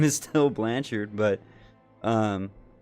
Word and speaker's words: Blanchard: the same point when they changed the pronunciation of their last name from Blanchard to Blanchard Blanchard not BL so is their last name was technically Blanchard like um like we're cooking a burger on a charcoal grill chard yes I know